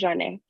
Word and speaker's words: Janae: Is it Janae or Jane? It's pronounced Janae.